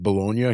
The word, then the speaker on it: Bologna: Yeah I think I I might be pronounced Bolognia. He might be Italian. No, I looked it It's bologna. No, I know how it's spelled, but it might be. No, no. I mean, it's how it's pronounced. I looked it up.